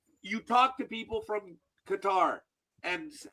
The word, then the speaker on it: Qatar: at 12 o'clock yesterday when they were saying cutter. CUTTER, IT'S QATAR, YOU MORONS. You talk to people from Qatar.